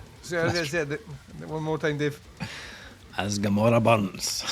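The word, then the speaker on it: As Gomorrah Burns: As Gamora Burns. That's how it should be said, and if you don't say it like that, then your accent is wrong.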